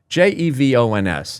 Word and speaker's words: Jevons: Jevons.